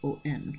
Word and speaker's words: on: And then on is spelled O-N, which I explained in the first video.